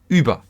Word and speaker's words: über: Or if you go like the U with the dots, yeah, so the U umlaut, so like über. So you can see, okay, it's quite high, yeah. You pronounce it quite high, like über.